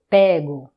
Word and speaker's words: pego: Eu pego. Eu pego. Attention, l'avant-dernière syllabe, c'est la syllabe forte.